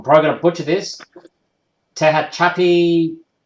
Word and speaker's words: Tehachapi: Then from there, it went south to Norman Road, Moreno Valley, and now it's in, I'm probably going to butcher this, Tehachapi. How do you pronounce that?